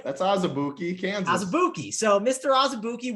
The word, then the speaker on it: Azubuike: JT, you might not have pronounced his name, but Kansas. Like, that's Azubuike, Kansas.